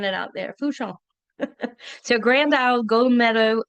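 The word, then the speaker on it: Fourchon: So, it's f Our r ho n, but it's pronounced fooon. So, I want to hear everybody saying it out there. Fong.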